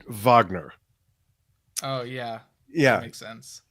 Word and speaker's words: Wagner: favorite Yes album and I probably should have pronounced it Vagner oh yeah yeah makes